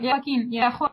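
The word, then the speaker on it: Joaquín: Joaquin yesterday. I'm not sure if I'm pronouncing his name right. Yeah, you're right. Yeah, Joaquin.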